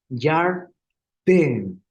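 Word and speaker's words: ירדן: De un Sheva, es un Dagesh leve. Siempre va a ser un Dagesh leve. Y quiere decir que tenemos que fortalecer nuestra pronunciación. Entonces sería Yarden, Yarden, en ese sentido.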